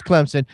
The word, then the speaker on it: Clemson: It's sounds like it's spelled. There's no Z's or I. It's It's Clemson.